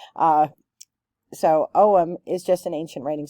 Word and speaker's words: Ogham: is spelled out here so it's not spelled the way that it sounds like most GIC words uh so omam is just an ancient